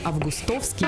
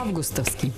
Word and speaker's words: августовский: Возьми за правило не августовский, а августовский. Данное правило следует использовать, говоря лишь о летнем месяце.